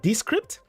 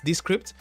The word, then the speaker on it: Descript: you mean it's called descript and this script is spelled i'm gonna put that in the chat it's spelled as the d e and then the word script i'm gonna put a